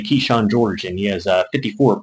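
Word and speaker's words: Kyshawn: I'm pretty sure it's pronounced Keyshawn, but it's K-Y Sean.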